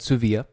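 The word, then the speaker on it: Dsuvia: new opiate it's called Sioux via listen on the D is silent there's a D in the name and the D is silent just so you know so it's called Sioux vo during the bill thank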